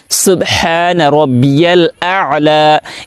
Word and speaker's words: সুবহানা রব্বিয়াল আলা: করে এই দোয়াটি পাঠ করতে পারে সিজদার তাসবিহ সুবহানা রব্বিয়াল আলা এই জায়গায় অনেকে বলে সুবহানা রাব্বিয়াল আলা সুবহানা